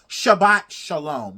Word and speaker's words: Shabbat shalom: I'm sorry to the Jewish community if I'm not pronouncing it right. Shabbat shalom.